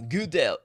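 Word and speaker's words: Gödel: Okay, we got Kurt Gudel, if I've pronounced that correctly. Gudel. Gu. It's that German O over there.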